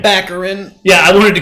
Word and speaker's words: Baccarin: Baccarin.